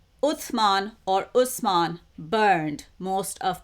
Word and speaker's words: Uthman: Uthman, or another version or pronunciation of his name is Usman, and some Muslims also know him as Hazrat Usman or Uthman.